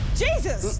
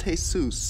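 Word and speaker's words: Jesús: Jesus! Mm-mm, it's pronounced Jesus.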